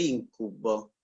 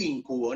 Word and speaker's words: íncubo: alejado de las palabras el íncubo el íncubo no con acento en la iese ese truco lo es